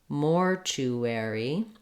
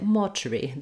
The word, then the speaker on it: mortuary: to weary Mortuary Mortuary then for British English as we mentioned before they don't have that air for the letters AR they do have first syllable stress but then they just use a schwa and a an r in the final syllable Mortuary Mortuary um or they would probably say motri they might not have that same American R